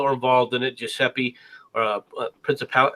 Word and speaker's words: Princip: We know that the people that were involved in it, Giuseppe, Principal. How do you say his name? Principe, something like that. I can't. Oh, but just Princip.